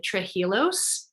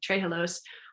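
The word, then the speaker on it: trehalose: well as high in trijilos sorry i mispronounced that all the time tray halos which um can help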